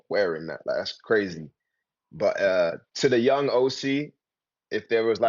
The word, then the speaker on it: Osy: Am I saying your name wrong? Is it OC? OC. In London, it's Aussie, but ever Oh, since okay, I came cool, to LA, cool.